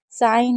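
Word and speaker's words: sign: 27 27 rule में है कि जब भी जीएन साथ में होगा तो जी को नहीं पढ़ेंगे। जैसे नेट है, नोम है, नो है, साइन है, डिज़ाइन है, रेन है, फ़रेन है, अलाइन है, अज़ाइन है।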